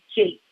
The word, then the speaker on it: Jacques: So you'll hear all kinds of pronunciations, but from people who knew her personally, the consensus is that she embraced the version of Jake Garvey.